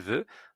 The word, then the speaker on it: veut: Le verbe vouloir, je veux, tu veux, il veut. Nous ne prononçons pas la lettre finale. Il veut avec un t.